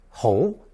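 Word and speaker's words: 喉: If we add a mouth radical co to the whole phononetic we arrive at another second tone hole which refers to the throat.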